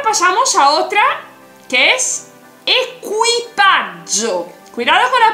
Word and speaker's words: equipaggio: La tripulación se dice equipaggio. Entonces no tiene nada que ver con equipaje, ¿vale? Ya lo sabes, equipaggio. Acuérdate de la pronunciación.